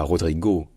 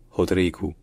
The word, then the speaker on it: Rodrygo: que ça se dit et surtout le O à la fin d'un mot en portugais ça se dit ou donc ce n pas Rodrigo c'est Rodrigo Rodrigo rrio Rodrigo bref